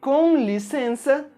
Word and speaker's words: com licença: ver o c cedilha saiba que ele é pronunciado com o som da letra S por exemplo na expressão muito comum com licença as duas letras Cê tem exatamente o mesmo som e por hoje é só